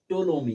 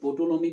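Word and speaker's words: Ptolemy: ठीक है, उसके बाद है टोलोमी। इसको कुछ लोग पोटोलोमी भी पढ़ते हैं, लेकिन टोलोमी, ठीक है, पी साइलेंट रहेगा।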